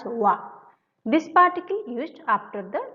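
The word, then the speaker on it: は: It is hiragana ha but when it used in a grammar, it pronounced as wa.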